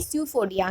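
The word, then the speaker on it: pseudopodia: और तो इसे बोलेंगे स्यूफोडिया। क्या बोलेंगे? स्यूफोडिया बोलेंगे। और आप बोल रहे हो कि स्यूफोडिया रॉन्ग स्पेलिंग में बोल रही हूँ, बट नो, पी इज the silent word in स्यूफोडिया।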